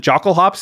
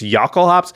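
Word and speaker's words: Jokulhaups: not know that it's nobody calls it jockle hops it's yakul hops like i know this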